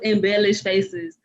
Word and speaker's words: Embellish: But my primary business is Embellish Faces. So it's embellished, but with lash in the middle instead of lish.